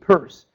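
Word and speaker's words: Peirce: an American philosopher psychology named purse this that's how you pronounce this weird name uh in in the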